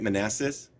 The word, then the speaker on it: Manassas: At the Battle of Manassas, did I get that right? Manassas? Are you Sorry. there? Yeah, you certainly did get that one right.